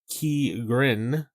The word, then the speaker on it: Ki-Rin: Now, interesting about the Ki-Rin is the way it's kind of pronounced Ki-Rin, like that.